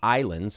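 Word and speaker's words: Ylands: It's going to be called Islands, but spelled with a Y. Y-L-A-N-D-S.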